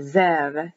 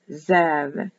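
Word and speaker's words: זאב: A wolf is a Zev, Zev, Z, E, apostrophe, E, V. Zev, written with a B, but pronounced as a V.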